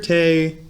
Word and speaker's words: Tee: It says Tee, grüner Tee und Zitrone. Now, grüner Tee, grün is green, Tee is tea. It's pronounced Tee, but it's spelled like tea.